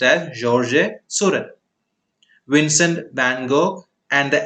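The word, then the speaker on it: Georges Seurat: painters who imitated this movement are paul gogin georgie surett now even though it's spelt like that it's pronounced as jorge suren vincent van gogh and the eldest of the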